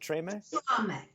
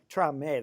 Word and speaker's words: trame: Is it treme? Trame. That's where I'm missing it.